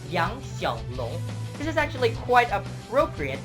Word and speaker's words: Yang Xiaolong: It's actually Chinese for a little sun dragon, and it's actually supposed to be pronounced Yang Xiaolong.